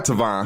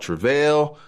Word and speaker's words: Tavon: I go by Tavon. Mr. I go by Tavon, man. I'm trying to get people to get used to that name because they mispronounce it so much.